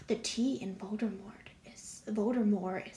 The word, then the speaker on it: Voldemort: tea in Voldemort is voter more is silent for years I was calling him bolder Mort but the T is silent yeah okay oh and